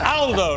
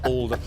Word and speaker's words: Aldo: It's Aldo, not Aldo. Aldo's a very British pronunciation of an Italian name.